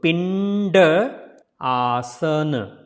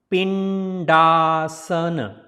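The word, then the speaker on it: Pindasana: So this D will be pronounced like a D, not the like previous one. So Pindaasana. So if you put all together, it's a Pindaasana. Pindaasana.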